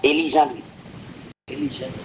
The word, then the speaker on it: Elie Jean Louis: Es un nombre francés, hermano. Elie Jean Louis. El español, pues. En español. Pero en francés sería Elie Jean Louis.